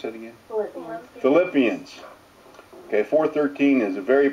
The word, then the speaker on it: Philippians: This week's thoughts come from the Philippines. Those people. 11 through 13. How you pronounce that again? Philippians.